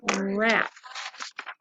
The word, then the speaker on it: wrap: Alright, the next one is a W in WR, like in wrap. The W is silent because it just sounds like an R, wrap.